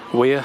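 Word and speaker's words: Wyre: And this is a river Weir, I think you pronounce it. W-Y-R-E from what I've seen.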